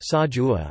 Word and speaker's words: Sai ua: Sai ua, Thai, siksa pronounced sajua, or Northern Thai sausage or Chiang Mai sausage is a grilled pork sausage from northern Thailand and northeastern Burma.